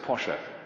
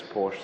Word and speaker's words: Porsche: anyone tell me who it was actually you pronounce it Pasha Ferdinand Porsche but everybody says Porsche so that's how that'll do but the same